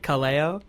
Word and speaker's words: Kaleo: I think Kaleo would be all right with us just shutting it off there. Is that how you pronounce it? Kaleo?